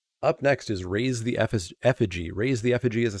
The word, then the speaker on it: Effigy: Pretty sure it's pronounced Fiji. Oh, Effigy. Got it.